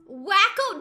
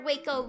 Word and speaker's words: Waco: Waco. Wrong. You can't blame me for pronouncing wake. How was I supposed to know that a was going to be ah and not ah a and not a wacko.